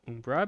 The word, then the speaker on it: Umber: See, the Umber clan, which some of you may pronounce as Umbra because that is some proper pronunciation of it. I call it Umbra because I heard it once said that way when I was taking Latin classes, and I can never get it out of my head now.